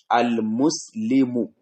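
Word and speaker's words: المسلم: For example, al-muslimu. The last sign that ended the word is dhamma. But while pronouncing orally and formally, it will be al-muslim. Al-muslim. Orally, we have changed it to sukun.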